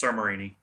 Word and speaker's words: Samarini: How did I pronounce the last name, brother? It's Samarini.